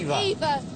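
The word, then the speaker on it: Hever: We're going for Hea Castle. Hea Castle. See if we can find it on the map. Sorry. Eden Castle. It's Eden. Eden. H E V E R pronounced hea Eva.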